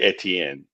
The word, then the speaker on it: Etienne: But it's really Etienne.